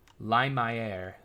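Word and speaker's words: Lumière: welcome to chatau De lumere so it has to be lumere now but just for uh curiosity's sake what what is the pronunciation the correct French pronunciation for that Li my air Li my air Li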